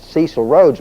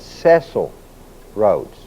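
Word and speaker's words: Cecil Rhodes: Now, if you'll know notice, his name is spelled CE C I L. Most people pronounce it Cecil Roads, but it's not. It's Ceil Roads.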